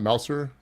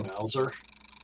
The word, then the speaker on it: Mauser: Um, Is that how you pronounce that? It's not Mouser. I say Oh, Mauser.